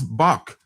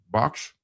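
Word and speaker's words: Bosch: In some shape or form, the fox shows up, because Hieronymus Box or Box, spelled like Box, but it's pronounced, it rhymes with fox.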